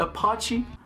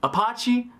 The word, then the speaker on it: Apache: send an IH 64 appache I pronounced that wrong tonight Apache Apache Apache attack helicopter